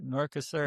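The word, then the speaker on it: Mercosur: And we're going to talk uh Merkasaur. I don't even know if I'm pronouncing Merkasaur. Yes, Merkasur.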